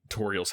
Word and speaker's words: Toriel: So you're in Toriel's house, and you get the pie, is what you told me. Wait, her name's pronounced Toriel, and it's the tutorial.